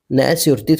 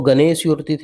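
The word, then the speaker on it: gnash your teeth: न्यायस्योर्तिथ मतलब दांत पीसना, गुस्सा होना, न्यायस्योर्तिथ। अब इसको गणेशयोर्तिथ नहीं पढ़ना है, ये जी साइलेंट हो जाता है, न्यायस्योर्तिथ, दांत पीसना, ठीक है, या फिर गुस्सा हो जाना।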